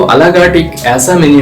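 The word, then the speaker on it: à la carte: अ ला कार्ट ये एक French term है, तो इसलिए इसका जो प्रोनाउंसिएशन है वो अ ला कार्ट करते हैं।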